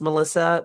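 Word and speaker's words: M3LL155X: But the title is interesting because it's pronounced Melissa, but it's formatted, it's spelled M, number three, LL, number one, number five, number five, and then X.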